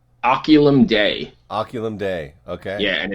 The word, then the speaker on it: Oculum Dei: what we got yeah Josh how do I pronounce the band name oculum day oculum day okay yeah and it's Josh and I'm gonna